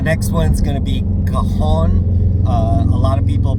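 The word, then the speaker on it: Cajon: The next one's going to be Kahon. Uh, a lot of people pronounce that kajun, but um, that's a completely different part of the country or different type of food.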